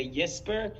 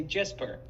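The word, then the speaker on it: Jesper: incorrectly I've been just pronouncing every Scandinavian name that begins with the J with a yes sound so but here here's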